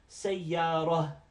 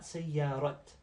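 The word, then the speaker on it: سيارة: last video, video 5, the ta is pronounced ha. So if I were to stop and make waqf at these words, if it had two dhammas and I got rid of the two dhammas. When I stopped on it, I'd say sayyarah and not sayyarat.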